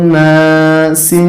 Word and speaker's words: ناس: নুন আলিফ জবর না সিন জেসি নাসি। যখন আমরা এখানে থেমে যাব তখন উচ্চারণটা হবে নাস।